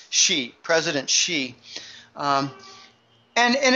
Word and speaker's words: Xi: and the visit by President shei um that's how you pronounce XI like he she it she president she um and